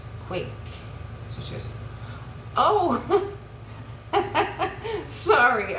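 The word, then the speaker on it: Quacke: The camera would zoom into a business card that says Earl Q U A C K E.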